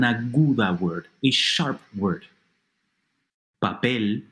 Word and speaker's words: papel: Papel, paper, and reloj, clock, are 2 other examples of aguda words.